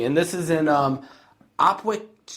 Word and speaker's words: Opwijk: And this is in um Opwijk Opwijk, Belgium. It's spelled o p w i j k. Now, you pronounce it. Opwijk.